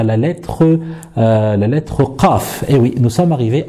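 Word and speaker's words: قاف: Alors, pour prononcer la lettre Qaf, donc déjà, il faut savoir que c'est une lettre emphatique, donc c'est pas une lettre amincie.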